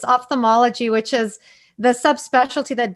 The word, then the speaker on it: ophthalmology: how to pronounce ophthalmologist, and I think I pronounced it wrong. No, that was actually really good. It's called ophthalmology, and I remember when I first decided to enter that subspecialty.